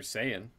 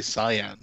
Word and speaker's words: Saiyan: There was Corey Graves not knowing how to say Super Saiyan. That got a lot of people ruffled because he pronounced yeah, he did say Cyan.